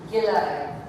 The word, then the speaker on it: Gilai: 7, and it's pronounced Gilai. Gilai. So just if you want to take a little pencil and draw an eye there, either like the an eye on a face or just the letter I.